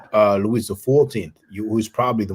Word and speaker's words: Louis: The French King Louis XIV. I mean, Louis, you pronounce the S in English, but we don't in French. Louis XIV, who is probably the most majestuous or rich or famous French king.